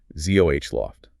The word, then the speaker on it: Zoloft: Sertraline, pronounced Sertraline, and its brand name, Zoloft. Zoloft, Zoh-Loft.